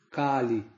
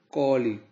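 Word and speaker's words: कलि: Inclusive, a pronúncia não é com o A aberto, Kali, mas sim com o A fechado, Koli.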